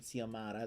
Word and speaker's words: Xiomara: I'd have to work in a Jane the Virgin reference because Jane the Virgin's mom is named Xiomara. That's how I know how to pronounce her name correctly.